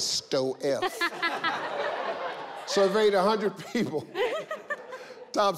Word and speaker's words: Stoef: That does not say Stoof. That says Sto-F.